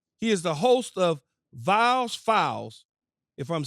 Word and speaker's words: Viall: Is it Nick Viall or Viall? Just like don't over-pronunciate the Viall. So just Nick Viall. It's a Viall. Oh, Viall. Oh, there you go.